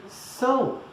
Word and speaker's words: São: So instead of sound, you just say São.